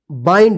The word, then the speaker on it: bind: यहां पे देखिए BIND, देखिए यहां पे ND और यहां पे भी ND, तो क्या पढ़ेंगे इसको, काइंड बाइंड, इसको बिंड मत पढ़िएगा, किंड मत पढ़िएगा, नहीं तो गलत हो जाएगा, ठीक है ना।